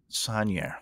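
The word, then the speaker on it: Saunière: Sanier. That's how you say it.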